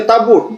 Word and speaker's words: tabut: Tapi tetap orang Inggris membacanya tabut bukan tabo.